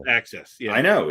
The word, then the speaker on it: AXS: concert tickets no this is axs it's ax pronounced access yeah i know it's the same oh is